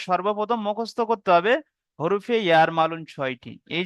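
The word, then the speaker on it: يرملون: ইয়ার মালুম নাকি জি বলছেন জি, আপনি? ইয়ার মালুন। এখানে ইয়ার শব্দটা লেখা মালুম। আছে, আচ্ছা। দেখুন, ইয়ার মালুন বানান করে লেখা আছে, ইয়ার ও ইয়ার, মিম জবর মা, ইয়ার মা, লাম ও পেশ, লু, নুন আছে, ইয়ার মালুন, যার মধ্যে 6টা অক্ষরও চলে এসছে।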